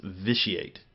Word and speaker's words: Vitiate: All right, and as the chat room was pointing out to me, I was pronouncing that incorrectly. It's Vitiate. Is how you say his name.